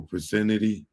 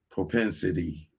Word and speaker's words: propensity: Let me make sure I'm pro propinity. Propinity. I need to make sure I'm pronouncing that right.